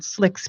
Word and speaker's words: Slique: And also you can also find it on Slick's page, his fan page. And his name is spelled Slique, Slick.